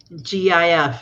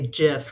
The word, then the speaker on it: GIF: tail at the time gif you say a jiff right jai hi hi cece oh my god um plague on humanity says i say it like gift without the tea can you think of